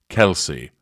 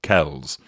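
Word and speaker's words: Kelce: a new boyfriend Travis Kelsey or Kells apparently his own family offer two different ways of pronouncing the surname either Kelsey or Kells I'll go with Kelsey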